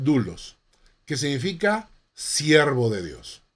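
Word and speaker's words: δοῦλος: 1 l a s se escribe 2 los se pronuncian du los que significa siervo de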